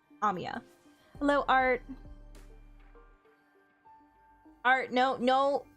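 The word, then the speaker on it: Amiya: Notice anything weird about how do you pronounce it? It's Amya. Amia.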